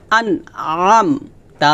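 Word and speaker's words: أَنْعَمْتَ: হবে না হবে আম চাপ দিয়ে আন আম আন আম তা জবর তা হরকত টান হবে না আন আম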